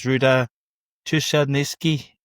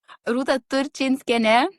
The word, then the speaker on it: Rũta Turčinskienė: I'm delighted to welcome as guest for this podcast is Rũta Turčinskienė. No, didn't get it right. No. Rũta Turčinskienė.